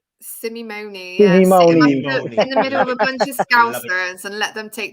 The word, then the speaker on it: Simeone: said it right you said it correctly chase simone simone yeah and let them take the piss out